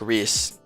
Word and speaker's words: Rise: Rise says, "My name is Rise. Say it like Reese.